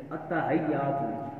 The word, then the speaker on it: التحیات: تو آگے ہم بزرگ حضرات جیسے پڑھتے ہیں التحیات، تو لفظ التحیات نہیں ہوتا، التحیات، حیات ہا کے کسرہ کے ساتھ اور یا کی تشدید کے ساتھ.